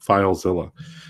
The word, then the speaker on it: FileZilla: free application called filezilla which is spelled like godzilla but instead of god it's file filezilla and you know it